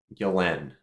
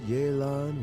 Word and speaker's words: Yelan: How do you pronounce this name? Now, when I look at it, I read Yelen in my mind.